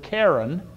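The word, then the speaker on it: קֶרֶן: is the hebrew word karen which is pronounced just like a girl's name and it's translated three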